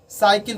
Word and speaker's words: cycle: जैसे कि CYCLE साइकिल पढ़ते हैं, उसको काइकिल नहीं पढ़ते हैं।